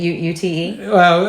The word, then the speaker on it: Youth: Is it UTE? Y-O-U-T-H. Okay. So it's youth, yeah. but pronounced Ute because you're proper.